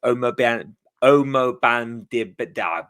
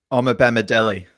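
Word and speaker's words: Omobamidele: whose name I'm probably going to butcher the pronunciation of, so I do apologise in advance. It's Omo Bandib.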